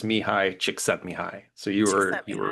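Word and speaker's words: Mihály Csíkszentmihályi: It is, or at least from what I could find, the pronunciation is Mihi Chick Setai.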